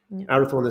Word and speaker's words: Arathorn: of the one that it rhymes with out of thorn yeah arathorn ii was the father